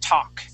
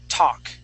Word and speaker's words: talk: this word is talk that L is silent we don't say talk we say talk talk good good yeah one more time talk talk great great yes